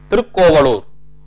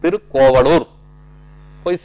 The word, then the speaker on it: திருக்கோவலூர்: நம்ம திருவண்ணாமலைக்கு பக்கத்துல திருக்கோவலூர் திவ்ய தேசத்துல திருவிக்கிரம பெருமாளை காட்சியளிக்கிறார் ஸ்ரீமன் நாராயணன். இந்த போஸ் தான், இந்த கோலத்தில் தான் இருப்பார். அது திருக்கோவலூர், திருக்கோவிலூர்னு சொல்றோம் நம்ம. திருக்கோவிலூர் சரியான உச்சரிப்பு கிடையாது, திருக்கோவலூர் போய் சேவிங்க.